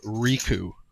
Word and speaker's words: Riku: It is pronounced Riku. Riku.